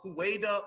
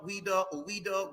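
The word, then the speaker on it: Ouidah: called their land zuida the multiple pronunciations of hueda UDA weda and yes Judah is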